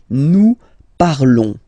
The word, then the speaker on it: parlons: Nous parlons, okay? Remember, final s is not pronounced, okay? And then this on together, they will give you the sound on, okay? Nous parlons, nous parlons.